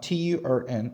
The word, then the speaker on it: turn: 발음하냐면 털이라는 단어와 은이라는 털이라는 발음과 은이라는 발음을 부드럽게 이어준다라는 느낌으로 활용하셔야 돼요 자 저 따라 하실게요